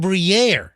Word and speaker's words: Briere: And this Carson Briere, Every time you say his name, I think of it. It's like a fancy cheese. oh yeah, Yeah, it does sound like like like Gruyere, Yeah.